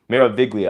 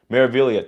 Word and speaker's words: Meraviglia: Meraviglia, thank you. G is silent.